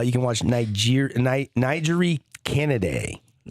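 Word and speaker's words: Canady: Uh you can watch Niger Nigeri Kennedy. Yeah. Did I say her name right? You did. Kennedy.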